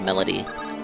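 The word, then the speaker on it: Melady: No, her name is Melody. I I listen to the there's like audio dialogue in the mobile game. You do pronounce it like Melody.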